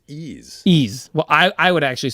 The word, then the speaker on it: Ys: Is it Yeez? Some people say Yeez. Yeez, yeah. However, the Japanese pronunciation of it is Ease.